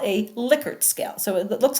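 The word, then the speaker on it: Likert: Now, this is an example of what we call a liquor scale. So, it looks like Lykert, but it's actually pronounced liquor scale. A liquor scale is a scale that's often used, and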